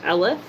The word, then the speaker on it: Elliffe: The way it's spelled is Elliffe. It's pronounced Elif.